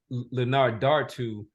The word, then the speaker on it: Linardatou: I think so her the pronunciation for her last name is Leonard Dar to uh and she is